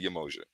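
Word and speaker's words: Yemoja: let's get into this yamanja i'ma say yamaya yamoshi okay in yaruba they pronounce it yamosha there are many different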